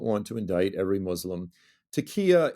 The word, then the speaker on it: taqiyya: I believe there's a tenet of Islam or a value within Islam for something called taqiyya. Am I pronouncing that correctly? Taqiyya, yeah.